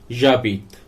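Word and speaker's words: j'habite: तो मैं रहता हूं, मैं रह रहा हूं, इसे फ्रेंच में बोला जाता है जाबीत।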